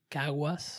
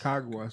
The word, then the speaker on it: Caguas: Caguas. Caguas.